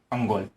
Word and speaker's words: अंगोल: Haryana, Tharparkar, cockroach, अंगोल। Okay, अंगोल या अंगुल को प्रोनाउंसिएशन देख लीजिएगा आप, अंगोल।